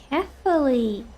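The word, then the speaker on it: Kephale: Kefully, that's how you pronounce that.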